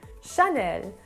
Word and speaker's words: Chanel: heavy like sound but the a sound in the french language is more it's supposed to be more light and airy so it should be pronounced more like chanel so it's more of a sound chanel next one on